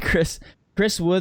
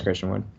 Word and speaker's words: Christian Wood: Okay, Chris Wood or Bell Alicia for GPP? Chris Wood? You mean it's Christian Wood. I'd say Christian Wood.